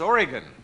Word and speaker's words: Oregon: Did I pronounce it wrong? Yes. You always say... It's Oregon.